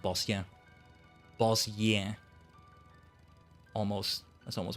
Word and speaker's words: Bozja: I guess I I end up pronouncing it more like Bosia.